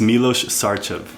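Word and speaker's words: Milos Sarcev: Did you say it was Sarkov or something like that? It's Milos Sarchev. Wait, Milos Sarchev. It's Milos Sarchev. That's how you pronounce it.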